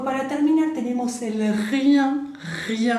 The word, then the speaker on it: rien: Y después para terminar tenemos el rien, rien, acuérdense de la R, bien, rien, que es nada.